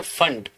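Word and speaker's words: Pfund: है इसको बोलते हैं फंड सीरीज। कौन सी बोलती है? फंड। अब इसको पी फंड मत बोलना, पी साइलेंट है।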